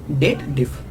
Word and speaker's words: DATEDIF: means the difference of two dates in shortcut date diff okay this is about the pronunciation first of all I want to clear